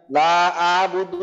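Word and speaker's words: أعبد: অনেকে এখানে লা আবুদু মানে আইনের উচ্চারণ অনেকে করেই না, লা আবুদু মা তাবুদুন, দুই জায়গাতেই আইনকে বাদ দিয়ে পড়ে, তো আমাদের আইনের উচ্চারণটাকে অবশ্যই করতে হবে।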